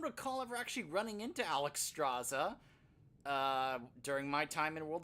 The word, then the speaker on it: Alexstrasza: I know how to say her name, Alexstrasza.